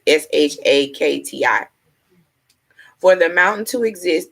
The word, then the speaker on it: Shakti: Shakita, Shakiti. I may be saying it wrong. It's Shakti.